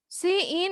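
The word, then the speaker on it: cin: তো এখানে হচ্ছে গিয়ে সি ইন, সি ইন এটা আসলে প্রোনাউন্সিয়েশন করা হয় সি ইন, সিন না, এটা সিআইএন সিন না, এটা হচ্ছে সি ইন, মানে এখানে আমি ইন করব।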